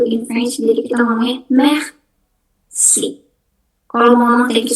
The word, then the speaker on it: merci: Yang kedua ada merci. Merci. R-nya jangan lupa, merci. Ini artinya thank you. Kalau how to say thank you in French, jadi kita ngomongnya merci.